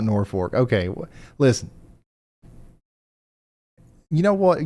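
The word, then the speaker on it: Norfolk: Also, the pronunciation Posi has decided it's Norfor, Nebraska. Norfor. I sound like a dork saying Norfork, but I will, I guess, if that's what you guys want to call it.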